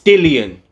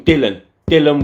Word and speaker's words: Dillian: It's Dillian. So many people on interviews and things call him Dillian Whyte. I'm sure it's spelt Dillian.